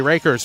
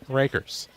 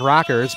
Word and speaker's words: Rakers: if it is for rakers traditionally I see r a k RS I think Clinton County I think rockers but yeah it is rakers with a long a first and 10 Highland